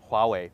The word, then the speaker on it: Huawei: we need to talk about the H word Huawei millions of people around the globe have learned how to pronounce this curiously spelled Chinese brand in recent weeks Howey away but unfortunately many got to know about it